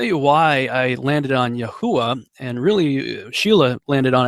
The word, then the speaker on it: Yahuah: pronounced that caused me to land on the pronunciation of yahuwah for yodej and it also just kind of works out cool because i had that little intro talking about the bermuda triangle and the yahuwah triangle just sort of well it rhymes with